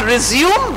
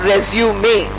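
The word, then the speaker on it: résumé: I tell my students, please pronounce not resume but resume. There is a small e at the end which is not there in the verb form.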